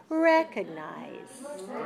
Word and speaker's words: recognize: which one is dressed recognize recognized recognize first one good okay recognizes three syllables the first syllable is higher and longer than the other and it's the a